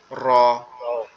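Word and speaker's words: ر: এই অক্ষরটা কিভাবে উচ্চারণ হবে? এই অক্ষরটা আমাদের জিহ্বার উল্টা পিঠ, উপরের তালুর সঙ্গে লাগবে, লেগে একটু কম্পন মতো দিয়ে আওয়াজ হবে র, র, র।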